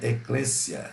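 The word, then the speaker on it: ἐκκλησία: aqui ó eu Eita é Letícia mas se pronuncia eclessia igreja na ou adelfós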